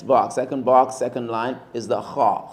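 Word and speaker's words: خ: Next box, second line, is the kha. Kha, you say it like you're clearing your throat.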